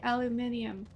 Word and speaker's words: aluminium: Aluminum. Spherolite is zinc. Okay, okay. I found the aluminum. Or as the British say, the aluminium.